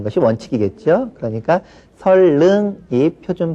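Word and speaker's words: 선릉: 그런데 일반적으로 우리가 선능 자 이렇게 또 많이 발음을 합니다. 우리말에 그 지난번 맞춤법 시간에 우리가 공부를 했는데 우리말에서는 니은과 리을이 연결되는 것은 아주 꺼려한다라고 말씀을 드렸어요. 그래서 니은과 리을이 연결될 때는 니은을 리을로 바꿔서 발음하는 것이 아주 일반적인 발음 현상입니다.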